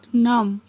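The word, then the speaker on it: numb: कहेंगे माई लेग गॉट नम, नम नहीं है, बी साइलेंट है, माई लेग गॉट नम।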